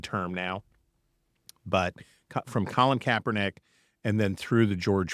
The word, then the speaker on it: Kaepernick: You looked at things like Nike, giving an endorsement deal to Colin Kaepernick. Am I pronouncing that correctly?